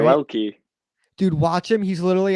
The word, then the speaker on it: Yoelki: I knew how to pronounce that. Yoelki, right? Yoelki.